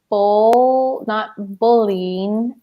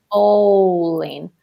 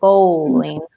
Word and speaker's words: bowling: Not bowling alley, but bowling. Yeah. Which is deep O, bowling.